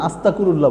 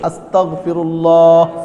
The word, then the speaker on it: আস্তাগফিরুল্লাহ: গতকালকেও একজন আমাকে জিজ্ঞেস করেছে, হুজুর আস্তাগফিরুল্লাহ তো বলে না, আস্তাকুরুল্লাহ বলে। আস্তাকুরুল্লাহ ঠিক নেই, ওই যে মুরব্বী কইতেছে আস্তাকুরুল্লাহ, এবার শব্দই শুদ্ধভাবে উচ্চারণ করতে পারে না, শব্দটাই হইল না। শব্দটা কি আমার সাথে বলেন? আস্তাগফিরুল্লাহ, আস্তাগফিরুল্লাহ, আস্তাগফিরুল্লাহ, আস্তাগফিরুল্লাহ।